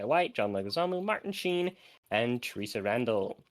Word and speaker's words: Leguizamo: It was from memory until I was looking at it this week that John, I can't pronounce his last name, is the clown. Leguizamo? No, John Leguizamo.